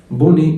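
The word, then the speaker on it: bonnet: بوني اللي هو الكاب او الطاقيه. البوني حتى البنات عارفينها، الاو تي في الاخر ما بتتنطقش.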